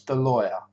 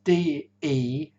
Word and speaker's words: DeLauer: a guy called Thomas DeLawyer. I'll probably say his name, pronounce it slightly wrong. It's Delauer. So Thomas DeLawyer, Delauer.